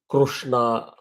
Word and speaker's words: Krishna: Gets You Through like Krishna Krishna it has got converted to many different names like Krishna or Krishna they're all wrong pronunciation it is actually Krishna so here also Russia